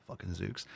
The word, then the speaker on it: Zucc: Zuc pronounced zuk. Like the phonetic.